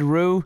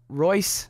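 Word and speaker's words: Reus: to pronounce this man's name correctly I said Rue I know it's pronounced Rey R Rey I'm sorry have to love Adam's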